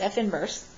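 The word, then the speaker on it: f⁻¹: after the negative one but it really is pronounced f inverse then the domain of F inverse will have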